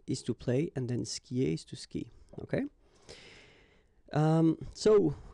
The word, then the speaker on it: skie: Je skie. Okay, you get this I, and after that you get the vowel but then you don't pronounce it.